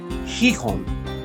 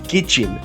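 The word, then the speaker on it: Gijón: parts of our second port, Hihon, or Gijin as the locals pronounce it.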